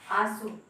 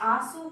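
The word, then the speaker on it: आँसू: अब आप आंसू को आंसू नहीं कह सकते, आंसू को इसका भी जो है प्रोनाउंसिएशन आपका उच्चारण जो है आपका नाक से ही हो रहा है, क्योंकि चंद्र बिंदी लगी हुई है।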